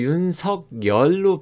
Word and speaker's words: 윤석열: 근데 윤석열로 발음을 하는 게 원래 맞죠.